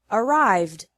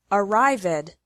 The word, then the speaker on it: arrived: finally e d is pronounced like d with no extra syllable in all other verbs so the past tense of the verb arrive which has two syllables is arrived which also has two